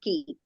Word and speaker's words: कि: It is not dirgha. It is short pronounced ki.